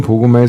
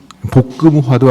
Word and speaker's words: 복음화: 신자들을 새로운 복음화의 삶으로 이끌고 복음을 선포하는 사도로 양성합니다. 이 미사 후에 나가시면은 그 복음학교 신청할 수 있고요. 복음화 발음 잘못하면 고구마가 되는데 복음화. 예. 볶음화도 아니고 복음화.